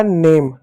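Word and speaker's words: name: ए की मात्रा लिख देंगे, हो जाएगा नेम। ई साइलेंट होगा नेम।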